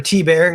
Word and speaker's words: Tibbert: I took on that job, and, or T-Bear is how it's pronounced.